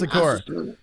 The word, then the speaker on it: Asakura: Asakura. Yeah, Asakura.